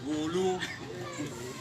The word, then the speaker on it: Gulu: What some of you call Gulu. The right pronunciation, I'm told, is Gulu.